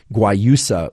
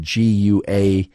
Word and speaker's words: guayusa: who don't like mate might prefer something like guayusa which is spelled g-u-a-y-u-s-a g-u-a-y-u-s-a guayusa which is from Ecuador despite the